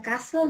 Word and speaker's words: castle: Es importante que ustedes tengan en cuenta que a castle no se le pronuncia la T.